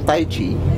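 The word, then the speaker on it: Tai chi: é taii ou Taiti como é que se pronuncia mestre Henrique esse é o grande problema da língua chinesa né a gente nunca sabe exatamente como se pronuncia porque tem a questão da de diversas regiões que falam diferente mas o correto oficial mesmo é o Taiti Taiti né Taiti é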